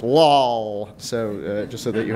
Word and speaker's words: LwLL: chose learning with less labels or as it's pronounced Lal so just so that you have a sense